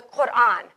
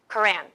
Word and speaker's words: Quran: muslim holy book the quran it's pronounced with a sound that we don't have in english so you usually will see it spelled like that k-o-r-a-n quran it's the most sacred